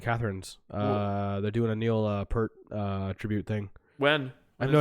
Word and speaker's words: Peart: literally kept saying Neil Peart she kept pronouncing his last name peered well if you don't know how to pronounce his last name it's about PE AR t just hurt hurt but it's but she